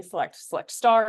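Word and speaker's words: SELECT *: So you might be select star is how you pronounce that.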